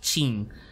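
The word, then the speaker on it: Qin: pronuncia chi por ejemplo la dinastía King q i n G en realidad es la dinastía chin Si ves un personaje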